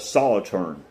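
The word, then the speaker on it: Solothurn: Solitaorn. It's spelled looks like it it would be pronounced solo, but Solitern is how they pronounce it.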